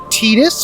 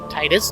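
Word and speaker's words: Tidus: here next we have teetus from Final Fantasy 10 Titus depending on however you feel like pronouncing his name and then finally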